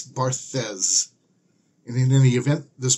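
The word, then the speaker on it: Barthes: eight and that is I don't know how to pronounce this person's name but I think it's barthas and in any event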